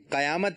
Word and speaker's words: قیامت: قیامت قیامت۔ قاف کے نیچے زیر ہے، قاف کے اوپر زبر نہیں ہے، تو جواب درست ہے۔